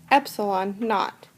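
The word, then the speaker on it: epsilon naught: divided by the distance the symbol for the permittivity constant would be pronounced epsilon not that epsilon is a greek letter equivalent to e and this is the lowercase version of epsilon let's try a second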